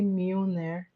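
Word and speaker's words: Mjölnir: So Thor's hammer's name is actually Mire. The spelling is definitely different from the pronunciation.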